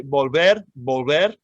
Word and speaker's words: volver: pronunciation on this one the the v at the beginning of spanish words and and almost always in spanish words sounds a lot like the b like for baby boy um so if you say volver you're very close to a good pronunciation as far as i